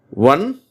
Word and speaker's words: ONE: ரெண்டுமே கிட்டத்தட்ட ஒரே உச்சரிப்பு தான். ஒன் தான். ஆனால் அந்த ஸ்பெல்லிங் பார்த்தீங்கன்னா முதல் வார்த்தை ONE ஒன். சரியா? இதை ஒன்றுன்னுவாங்க. ஆனால் சரியான உச்சரிப்பு ஒன். அடுத்தது WON ஒன். சரியா? ஆக ரெண்டுமே ஒன் தான். என்ன வார்த்தைகள்? ONE ஒன், WON ஒன்.